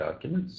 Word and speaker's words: arguments: So the stress on that is on the first argument. The stress is on the first syllable.